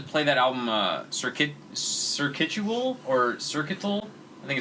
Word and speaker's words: Circuital: Circuital is what it is. Yeah, I used to think it was Circuitual, but then I realized it was just This one.